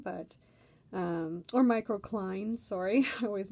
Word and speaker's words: microcline: towards oath of ortho clays more so than microclean but um or microcline sorry i always mispronounce that um but yeah either way they